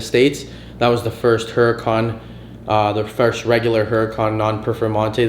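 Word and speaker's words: Huracán: It was a Lamborghini Huracan or Huracan, if you want me to pronounce it properly.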